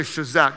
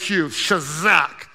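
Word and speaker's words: chazaq: found strength comes from a hebrew word i say shazak just for fun it's spelled c-h-a-z-a-q shazak and it means to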